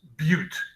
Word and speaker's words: but: In organic chemistry, for whatever reason, again, historical reasons, they use bute, and it's spelled B-U-T like butt.